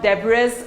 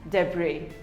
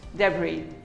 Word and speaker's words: debris: debris it is not debris or debris it is pronounced as debris the bree the s is silent debris we all have a